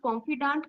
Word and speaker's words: confidant: it it becomes a female how should I pronounce Confidant confident Confidant Confidant it's confident is different I